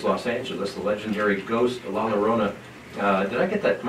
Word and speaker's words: La Llorona: First, The Curse of La Llorona in 1970s Los Angeles, the legendary ghost La Llorona. Did I get that? Am I spelling that or pronouncing that correct?